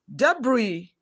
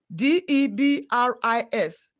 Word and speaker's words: debris: please i s in debris d e b r i s not debris letter s is silent i e in relief